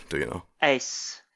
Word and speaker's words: Uys: Ace. Yeah. It's technically not the same as the ace card in your deck of cards. But if you pronounce it that way, no one will give you the side eye.